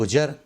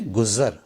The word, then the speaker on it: گزر: 15वें number पर اس کو بولتے ہیں لوگ گجر، گجر نہ بولیں گزر۔ 16 نمبر پر زبردست